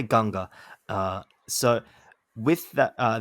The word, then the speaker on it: Ganga: it all right uh I guess that's how you see it as a native English speaker but uh we use the term Ganga or maybe an Indian